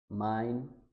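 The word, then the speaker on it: mein: उल्ट कर दें हम, ए और ई का कम्बिनेशन, तो इन दोनों को मिला के हम पढ़ते हैं आई, आई। अब फर्स्ट देखते हैं हम। अब ये है डाई, ये डी नहीं है, डाई। फिर सेकंड लाई, पाई, याई, आइंस, माइन, डाइन और नाइन।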